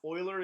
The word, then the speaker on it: Euler: concept called Euler's number now oiler is not spelled oh I le are like you would assume it's actually the name of the mathematician that came up with a number and it is spelled this way boilers number EUL ER apostrophe s okay there was a